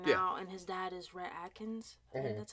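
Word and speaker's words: Rhett Akins: a country singer now and his dad is rhett atkins that's how you say his name um and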